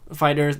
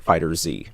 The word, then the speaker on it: FighterZ: about uh I'll start with Dragon Ball fighters fighters that's the correct pronunciation of it we found out I mean